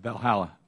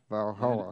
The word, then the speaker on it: Valhalla: He earned his medical degree from the New York Medical College at Valhalla. How do you say that? Valhalla. Valhalla.